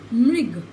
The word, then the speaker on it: मृग: री की मात्रा का उच्चारण भी र की भांति ही होता है। मृग, मृग, मिऋग, क्या हुआ, र, ग, मृग, गृह, ग, र, ह, ठीक है, गृह।